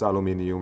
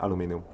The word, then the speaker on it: aluminium: they are not speaking well to man to pronounce aluminium it's just aluminum only aluminum lithium stage is cheap for us